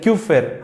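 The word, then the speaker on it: Kupffer: denominar célula de qffer célula de cufer sí es a un nombre alemán un apellido alemán y aquel que sepa alemán lo pronuncia Bien listo piel tenemos la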